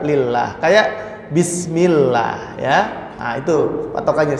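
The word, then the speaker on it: الله: jalalah atau lafadz Allah patokannya itu kalau sebelumnya harakat dhomah atau fathah dibaca tafkhim atau Allah ya kalau sebelumnya kasrah maka dibaca lillah kayak bismillah ya itu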